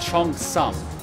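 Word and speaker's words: cheongsam: It's pronounced Chong Sum. At least that's how I was taught to pronounce it.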